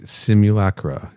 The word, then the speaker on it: simulacra: of their album Cosmic Simulacra. Is that how you say that word, Kenny? I always get self-conscious when I pronounce it. Simulacra, that's what I would have said, yeah. Hell yeah, nailed it.